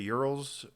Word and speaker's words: Ural: How'd you pronounce that word earlier? The Urals?